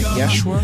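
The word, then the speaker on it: Yshwa: The Tech Kila theme song is Ride Out by Yeshua, which is spelled Y-S-H-W-A.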